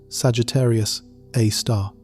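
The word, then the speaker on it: Sagittarius A*: It is called Sagittarius Asterisk, pronounced Sagittarius A star.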